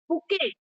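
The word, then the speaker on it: bouquet: बुराई करते है ना बुके a flower of a bunch of flower called बुके आई के लिए स्पेलिंग के लिए आप देख लो बी ओ यू कल यू ई T okay T silent है बायोलॉजी यू मस्ट हैव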